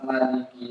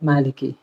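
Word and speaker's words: مالك: kayaknya dan surah alftih mayoritas kebanyakan dari ulama qiraat membaca pendek pada lafaz Maliki Maliki yang di surah Alfatihah Alfatihah itu kalau qiraatnya asim itu membacanya panjang jadi Maliki yaumiddin panjang mad Ya dibaca Mad dibaca panjang kalau yang lain ada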